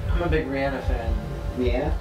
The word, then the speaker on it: Rihanna: Rihanna. Yeah, that's how you say it.